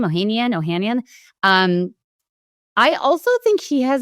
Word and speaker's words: Ohanian: Alexis Ohanian, is that how you pronounce his name? Ohanian.